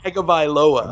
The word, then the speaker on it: Tagovailoa: I love the way you pronounce Tua's last name. You got that down. Tagovailoa. That's music. Yeah.